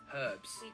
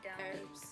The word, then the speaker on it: herbs: what's that herbs herbs we pronounce the h herbs herbs arugula rocket delicious in